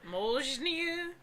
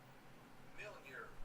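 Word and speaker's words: Mjölnir: The M is partially silent, the L is completely silent, and the R is pronounced by rolling the tongue.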